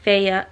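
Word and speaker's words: Feyre: cannot pronounce anything so i'm kind of saying fair's name right it's feya feya but i'm adding more er that's just my mixed michigan accent so sorry and also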